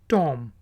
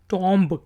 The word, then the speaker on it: tomb: Word है TOMB, टॉम। इसको भी आप भी में से भी बहुत से लोग टॉम्ब कहते होंगे, लेकिन ये है टॉम।